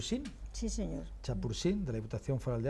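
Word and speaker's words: Champourcin: tiene La Ernestina de no sé si lo pronuncié bien chapur Sí señor chapur de la diputación feral de Álava el Raimundo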